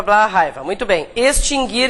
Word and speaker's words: extinguir: Nunca teve trema, o U nunca foi pronunciado, nada mudou então, né? Tá. O que a gente quer? Verbo extinguir, presente do indicativo, terceira